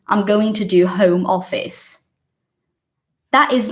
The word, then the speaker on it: Home Office: because first of all the pronunciation is not homeopathy it's just not it's Home Office and that is a fact that is a fact because it's not Portuguese it is English so respect that fact